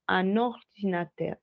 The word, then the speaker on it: un ordinateur: Solo los voy a unir en la pronunciación, ¿cierto? Entonces no voy a decir un ordinateur, sino un ordinateur, un ordinateur. ¿Listo? Como si fuera la misma sílaba, un ordinateur. Siempre lo hago cuando la palabra anterior termina por consonante y la siguiente empieza por vocal.